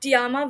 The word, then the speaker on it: Tiaram: dive into the podcast I would just like tiama to introduce herself that's my qu hi everyone